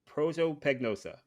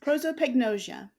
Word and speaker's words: prosopagnosia: can't pronounce because you heard me try to pronounce it before we started recording. But so you have prosopagnosia. How do you actually say it? Can you say it for me, please? Prosopagnosia.